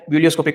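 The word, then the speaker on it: ebullioscopic: इसके दो नाम है मोलरल एलिवेशन कांस्टेंट या फिर इसका नाम ठीक है क्या ब्यूलियोस्कोपिक ई साइलेंट रहता है इसके प्रोनंसिएशन में बिलियोस्कोपिक कांस्टेंट अब हमें इसकी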